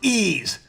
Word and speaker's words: Ys: What do you mean it's pronounced ease? What, I've been saying it wrong this whole time?